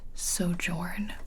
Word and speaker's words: sojourn: of these words so the next word is sojourn and it can also be pronounced sojourn both are correct whatever one helps you